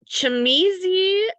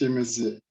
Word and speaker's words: Chimizi: Chamizi, and then Marcella, and then Michelle Caudill. Hi everyone, Debbie. Thank you. You were very close. It's pronounced Chimizi.